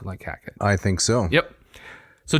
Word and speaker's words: Hackett: Hackett. Hackett. It rhymes with jacket, for example. Yeah. But not with racket. It does rhyme with racket. Oh, I'm sorry. It rhymes with racket as well.